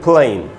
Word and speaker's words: plain: रहा, जो पहला वाला ए है उसका सिर्फ उच्चारण हो रहा है, रेन। दूसरा वर्ड है दोस्तों प्लेन, PLAIN, तो इसको हम पढ़ेंगे प्लेन।